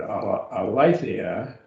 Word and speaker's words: aletheia: We have the word aletheia. Notice the accent on the eta.